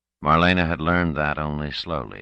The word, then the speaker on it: Marlena: Molly not Molly thought Marlena with anguish Marlena Marlena Marlene had three syllables Accent on the second grown up like what